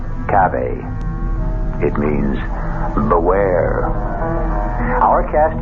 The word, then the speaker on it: cave: word spelled the same way C A but pronounced cave it means beware our cast included Marian seldes